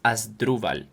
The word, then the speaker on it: Asdruval: So you're going to say the three syllables uh clearly in my name and the main stress is on the second syllable. So it's as duval.